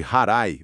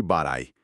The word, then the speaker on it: harai: O H de harai, varrer muitas vezes soa como B em dia de barai. Olha, a escrita oficial no romage mantém o H, mas na fala é comum ouvir o B, reflexo do rendao.